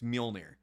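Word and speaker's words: Mjölnir: Yeah, it's a hard name to pronounce. All right, I'll give it to you, Frank. It's Mjolnir.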